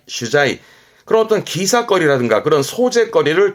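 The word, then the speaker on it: 取材: 발음은 슈자이 슈자이 그런 어떤 기사거리라든가 그런 소재거리를 찾으러 다니는게 취재가 되겠지요.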